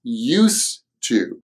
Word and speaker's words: used to: Used to, but the usual pronunciation is used to.